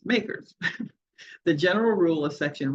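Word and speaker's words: MACRS: accelerated cost recovery system it is Comm commonly referred to by its initials makers and pronounced makers the general rule of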